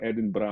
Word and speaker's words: Edinburgh: Kung tawagin ay Edinburgh or parang Bird pero Edinburgh ang pronunciation.